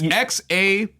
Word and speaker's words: XAMIYA: Dude, with all due respect, I have no fucking idea how to pronounce. It's XAMIYA.